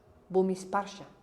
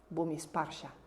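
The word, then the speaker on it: Bhumisparsha: Depende si es pali o sánscrito, pero en sánscrito es sparsha. Sparsha, Bhumishparsha, Bhumishparsha.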